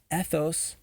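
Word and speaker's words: ἦθος: It turns out that the word ethos, with an accent on the E at the beginning, is ancient Greek for character. Right, our character, what sort of person we are. And without that accent, ethos, it was the word for habit, right?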